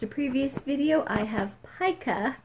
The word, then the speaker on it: pica: My doctor did tell me not to eat flour because if you watched a previous video, I have pica. Found out how it's pronounced. Pica.